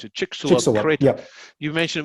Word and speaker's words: Chicxulub: When you mentioned the Chicxulub crater, how do you pronounce it? Chicxulub crater.